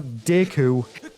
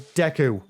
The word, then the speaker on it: Deku: It's not Deku, it's Deku. like the great deu tree. And the official pronunciation has been in Breath of the Wild